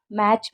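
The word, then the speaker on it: match: तो फैच में आप देख रहे हैं टी साइलेंट है, मैच में टी साइलेंट है, एंड वॉच में भी टी साइलेंट है।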